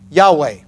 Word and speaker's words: Jehovah: Max Lucado has said you need a Yahweh that's the way to pronounce Jehovah says you need a